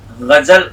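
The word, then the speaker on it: ग़ज़ल: पता ही होगा इसका सही गलत गजल गजल होता है की जिन लोगों ने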